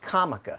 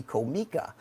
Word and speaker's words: Comica: You know, I found out that it is pronounced Comica in Chinese. In Japanese, it would be Komika.